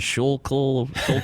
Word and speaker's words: Schuylkill: The Schuylkill? Schuylkill? Yeah. Whatever. I don't know. It was some crazy rivers flooded over like nuts. It's crazy. The Schuylkill was flooding over in Manioc?